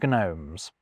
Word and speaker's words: gnome: And you can copy and paste everything I just said about silent kwords over to these silent gword too. We once had gnoing gnats and gnomes. Now, one word you could use to explain the loss of these c and g sounds is laziness.